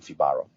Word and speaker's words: Fibaro: a like a central hub for information regarding fibaro terrific and it's spelled f i b a r o Dominic